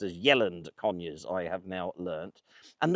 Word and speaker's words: Yealand Conyers: Rather wonderfully, I've just met an older couple from the village which I should have pronounced as Yeland Conurs.